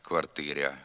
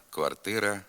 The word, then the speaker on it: квартира: в окремих словах гряд квартиря коморя макитря ряма така вимова також є діалектною ненормативною слід вимовляти град квартира комора макітра рама тепер зробимо вправи з